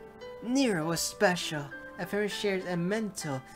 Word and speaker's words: Nero: an ego connection every one of them like Nero it's so weird that it's pronounced Nero not never scraper I find out